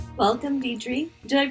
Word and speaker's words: Deirdre: struggle with my name, but Deidre is I guess I call it the Aussie way of saying it because I know here in the States, Deirdre is the main way that it gets pronounced.